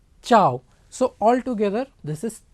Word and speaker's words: ciao: ciao c i a c i a is pronounced as cha like if you know telugu it is cha if it is hindi it is cha okay chao so all together this